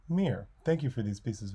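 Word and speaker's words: мир: of the Russian word mer bravery Orbitz peace and space oh and I've been told that it's pronounced meer thank you for these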